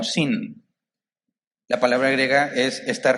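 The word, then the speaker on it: σύν: ellas es son o se pronuncia como sin la palabra griega es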